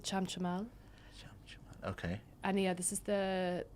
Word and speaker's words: Chamchamal: Can you pronounce that? It's called Chamchamal.